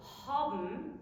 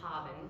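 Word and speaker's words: האָבן: is the case of the ending BN, which is spelled BN but pronounced BM with nothing in between. So haben, like the German haben, to have.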